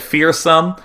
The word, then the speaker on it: Fearsome: I didn't actually realize that Fearsome was, pronounced like that because I'd only, watched these replays.